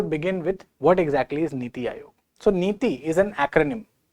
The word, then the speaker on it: NITI: But this is something which can be pronounced as a word. Just say niti.